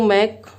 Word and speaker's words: Mach: तो ये वाला मैक और ये वाला मैक का उच्चारण सेम ही है, आप इन दोनों को मैक ही कहेंगे। ऐसा नहीं कि इसे मैच कह देंगे और इसको मैक कह देंगे।